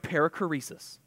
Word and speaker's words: perichoresis: can actually read that that is a Greek word and the word is pronounced perichoresis Parekh raise your hand